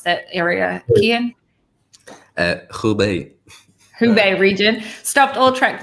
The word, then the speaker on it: Hubei: guys, COVID lockdown in the, how do you pronounce that area, Kian? Hubei.